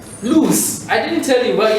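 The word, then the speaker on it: luz: If I write a word like, let's say, L-U-Z, how do you mention it? Lose.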